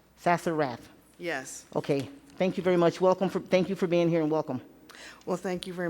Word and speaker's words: Sassenrath: Sassenrath? I want to say it correctly. Sassenrath. Sassenrath.